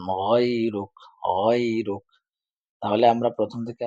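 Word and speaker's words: غيرك: হুম তারপরে এখানে লামে টান দেয় না ইলাহা গাইরুক গাইরুক বলে গাই না গইনের উচ্চারণ গাইরুক গাইরুক তাহলে আমরা প্রথম থেকে আবার দেখি সুবহানাকা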